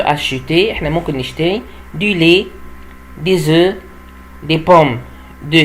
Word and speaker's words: lait: Le lait اللي هو اللبن. Le lait اللبن، ما بنطقش التي يا جماعة. Le lait اللبن.